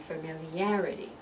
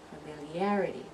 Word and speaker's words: familiarity: that Lance problem and you're going to see in photographic is going to be the third syllable that we're going to emphasize so we're going to